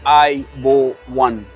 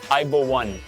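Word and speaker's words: ආයුබෝවන්: You say I bo one. Aibo one.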